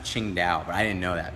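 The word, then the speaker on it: Tsingtao: go to a Chinese restaurant that says to sing Tow on it t s i n g t a o yeah Singa beer that's actually pronounced Ching da but I didn't know that before I went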